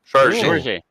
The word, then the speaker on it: Jorge: Is it George or Jorge? In Portuguese, from Brazil. Gorge.